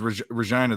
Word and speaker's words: Regina: But yeah, they said that there's a sign that says Regina, the town that rhymes with fun.